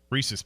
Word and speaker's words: Reese's: It's about rhyming with the word pieces. Reese's Pieces. Reese's Pieces. Reese's Pieces. Whatever. Right, yeah, exactly. Yeah, exactly. It's not Reese's Feces, which would be the way that it would rhyme the other way.